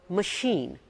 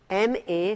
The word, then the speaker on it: machine: T-I-O-N is pronounced as sh, while in the second word, C-H is pronounced as sh.